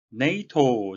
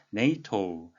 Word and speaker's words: NATO: 네이토, 잘 아시는 북대서양 조약기구 North Atlantic Treaty Organization의 약자인데요. 우리말 표기는 나토라고 하니까 발음에 유의하셔야 되겠습니다. 네이토. NATO is an organization.